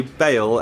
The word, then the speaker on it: Bale: Bale Bale I keep so basically I always say Gareth Bal I used say Gareth Bal and you guys me off Simon I used to say it to me all the time that I said it wrong so i' like trained myself to say baale and now in my head it now sounds weird Gareth Bale it's fine got it oh no